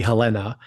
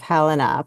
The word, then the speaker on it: Helena: true I'm fascinated by your pronunciation of Helena by putting the emphasis on the second syllable did I say Helena